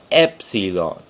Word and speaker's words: epsilon: The next letter along is your next vowel, is epsilon.